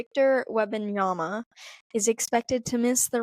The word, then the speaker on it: Wembanyama: So the basketball player's name is Victor Wembanyama. It doesn't look like it's pronounced that way, but it is. Or you can just say Wemby. Either one will work.